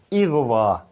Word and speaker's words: اغوا: بھی بولا جاتا ہے، اغوا کہہ دیتے ہیں، اغوا نہیں ہے، اغوا، اغوا۔ یہاں غلطی املا